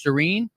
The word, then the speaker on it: Seren: uh real quick uh your last name just so I I know I'm saying it right it's Serene yes correctly all right so hang